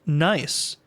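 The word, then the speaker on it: gneiss: I asked Jack GBT to give me lewd rot jokes and puns and chatbt says nice pronounced nice.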